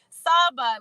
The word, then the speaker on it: Sahba: Saba, like the car Saab.